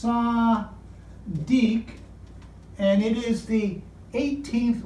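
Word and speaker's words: צדי: It's pronounced Sadiq, and it is the 18th letter in their alphabet. We don't have this sound in English, the S.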